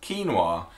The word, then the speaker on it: quinoa: So the first word that you might pronounce wrong is quinoa.